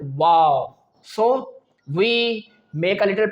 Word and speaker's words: و: But, when we move towards the letter waw, which is the third letter pronounced from our lips, waw, it is totally different. How? Because when we pronounce the letter waw, our both lips get rounded.